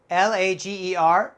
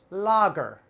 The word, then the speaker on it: lager: america we pronounce this logger logger logger don't be confused the a is not a long a here it's more like a short o ah lager lager very